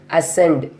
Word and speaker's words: ascend: Okay, we'll move to the words, silent letter C words. Abscess, A-B-S-C-E-S-S, abscess. Ascend, A-S-C-E-N-D, ascent.